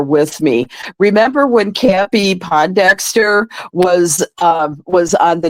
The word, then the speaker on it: Pondexter: you were there with me remember when campy Pondexter was um was on the New York Liberty and Bill lambir was the coach well I had mispronounced the name to as po Dexter and and Bill lambir looked at me and